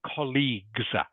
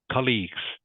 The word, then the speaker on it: colleagues: sound colleagues and and a hard G of course a hard G not a soft G so colleagues colleagues you've